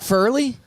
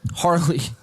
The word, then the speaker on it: Harley: Say his name, Furley? Harley. Like Harley Davidson.